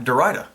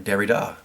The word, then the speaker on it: Derrida: Next up, we have some intellectuals, and they are Jacques Derrida, or Derrida, depends how you pronounce it.